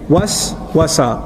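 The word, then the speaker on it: وسوسة: Was-wasa, was-wasa, was. You see the two syllables together?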